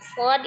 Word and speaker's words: ص: Jadi, huruf sad diucapkan sad itu diucapkan dengan mengalir suaranya. Nah, karena salah satu huruf yang tebal maka dia termasuk huruf yang istila, bukan istifal ya. Diucapkan dengan cara mengangkat pangkal lidah ya dan mengangkat suara. Jadi suaranya diangkat, suara dan pangkal lidahnya diangkat ketika mengucapkan huruf shad ya untuk yang ee tebal atau tipisnya.